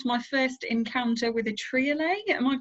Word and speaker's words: triolet: I had my first encounter with a triolet. Am I pronouncing that correctly? Oh, triolet, I love them, yes.